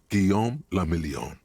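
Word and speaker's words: Guillaume Le Million: meant only one thing guillaume lamillion does heist if it doesn't rhyme you're not pronouncing it right okay out of the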